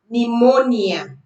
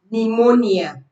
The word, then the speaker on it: pneumonia: Pneumonia. Psalms. Psychology. Pneumonia. Psal. Now you realize that these words begin with P, but the P sound is not heard.